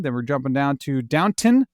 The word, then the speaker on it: Downton: Then we're jumping down to Downton, not downtown.